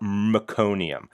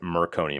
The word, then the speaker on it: meconium: feces, we call it meconium. I usually pronounce it merconium because I learned how to say it wrong.